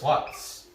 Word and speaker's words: Slutsk: Okay, Dinamo Brest, their last game was a win versus Slutsk. I don't know if that, I think that K is silent too.